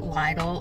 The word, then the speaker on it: Lidl: how you pronounce it you might pronounce it Lial or little I pronounce it Litt I am here today